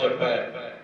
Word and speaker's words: जपे: एक हुंदा पाठ जपै। एक पाठ जो असीं पढ़ीए ना सारे इस गल का ध्यान रखिए। गुरबाणी भी पाठ लां दे नाल करनी है तो उच्चारण है जपे, जे दलावां दे नाल करनी है तो उच्चारण है जपै।